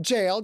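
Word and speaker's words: gaol: Gail right Magda nodded it's pronounced jail just like the real thing him and his two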